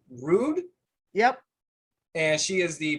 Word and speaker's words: Ruud: here this is miss susan i believe it's pronounced rude yep and she is the president and head